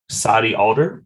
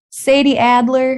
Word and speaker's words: Sadie Adler: to Red Dead Redemption 2 so you got Sai Alder is that how you say her name Sadie Adler Sadie Adler so what is about Miss Sadie